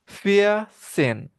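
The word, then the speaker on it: vierzehn: Var sin V i R V I E R Z E H N itu tulisannya.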